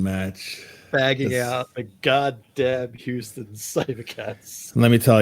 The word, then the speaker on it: Houston: you say that City make sure you say Houston with a y That's How The locals say it Houston uh if you if you put that if you put a h in there they know you're not from there um it's a Bayou